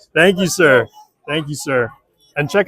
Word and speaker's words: Si: I offended anybody by calling it a Honda Civic C. It is an SI for anybody who is uh wanting to make sure they pronounce and uh say the name of the car correctly.